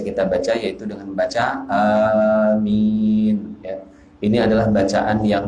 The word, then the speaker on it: amin: Jadi seperti yang biasa kita baca, yaitu dengan membaca amin, ya. Ini adalah bacaan yang masyhur, yang terkenal. Kemudian yang kedua, cara baca amin adalah dengan memendekkan huruf hamzah.